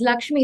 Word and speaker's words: LXME: this I said no you pronounce it as Lakshmi it's a very gen Z way of writing Lakshmi but it has a